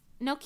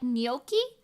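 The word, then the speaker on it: gnocchi: yum yum yum yum Noki and Italian is more like noi the American pronunciation was closer really oh jeez listen I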